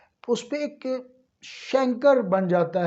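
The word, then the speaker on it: chancre: इसको बाज़ हमारे बड़े बड़े पढ़े लिखे डॉक्टर भी कैंकर कहते हैं। तो ये शैंकर है बेसिकली, ठीक है। ब्रिटिश प्रोनाउंसिएशन में ये शैंकर, जो CH है शीन की आवाज़ निकालेगा।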